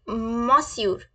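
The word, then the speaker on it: monsieur: तो हम कैसे उनको यूज करेंगे इट्स लाइक मसूर कैसे बोलेंगे हम मसूर मसूर मसूर प्लीज रिपीट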